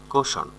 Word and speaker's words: caution: কোশন, কোশন মানে হচ্ছে সতর্ক করা, কোশন, CAUTION উচ্চারণ হবে কোশন, মানে হচ্ছে সতর্ক করা, সতর্ক করা।